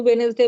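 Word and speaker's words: Wednesday: Silent, जैसे आपने वेनेसडे बोला, डी इज एक्चुअली साइलेंट, तो इस तरह का बहुत सारा वर्ड्स होता है।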